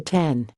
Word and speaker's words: X: manager Ryan Gish said everyone's been calling it the 10 I've called it the X a couple times but been corrected I know it's supposed to be called the 10 Daniela Contreras H